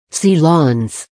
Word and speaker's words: silence: powered sealancia Lancia Lawns the word uses the French pronunciation of the word silence C Lawns once the need for